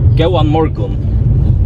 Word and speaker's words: Góðan morgun: Góðan morgun. Góðan morgun. Okay. No? Yeah, we also have more Faroese. Tell me. Farewell is goodbye. Farewell. And hello in Faroese? I don't think it's mostly góðan morgun or góðan daginn, good day.